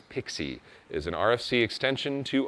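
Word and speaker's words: PKCE: gonna use pixie magic proof key for code exchange pronounced as pixie is an RFC extension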